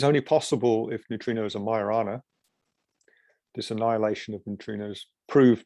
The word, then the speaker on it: Majorana: possible if neutrinos are majorana this annihilation of neutrinos proved would prove that the neutrinos are marina particles which is the correct way to say it and also you get